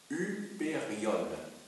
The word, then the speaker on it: Hyperion: un mot grec, donc en allemand ça se dit Hyperion. Hyperion, parce que le Y, c'est Upsilon en fait. Hein. Donc ça se prononce U.